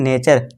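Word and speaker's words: nature: पढ़ेंगे ठीक है दोस्तों नटरे नहीं पढ़ेंगे अब मेरे दोस्त क्या देखिए दोस्तों जो मेरे दोस्त थे इसे क्या पढ़ते हैं पढ़ते थे नटरे पढ़ते थे लेकिन जब मैंने उन्हें ये वीडियो दिखाई और उन्हें समझाया कि इसे क्या पढ़ना है नेचर और उन्होंने ये सारे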